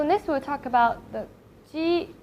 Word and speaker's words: jī: And next it comes to G, Q, C.